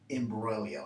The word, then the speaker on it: imbroglio: bit more common and it's actually related to imbroglio and notice this is not pronounced in broccoli so what does it mean